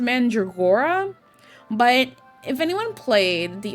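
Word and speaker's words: Mandragora: I say Mandra because and I'm sure it's pronounced Mandreora, but if anyone played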